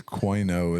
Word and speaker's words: quinoa: I think this is Joaquin, but it's quinoa. Is how Yeah, it's spelled.